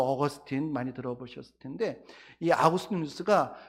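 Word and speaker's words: Augustine: 가장 깊이 있는 연구를 하신 분이 누구냐면 영어 발음으로 어거스틴 많이 들어보셨을 텐데이 아버지 뉴스가 삼위일체론이라고는 책을 썼는데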